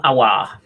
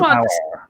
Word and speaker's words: Aouar: Add ya on the end and then chant it. Oh are ya, and there you go.